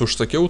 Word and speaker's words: užsakiau: Калядомс užsakiau торта. Калядомс užsakiau торта. И вы можете, вы, может быть, спросите, почему здесь произносить как užsakiau.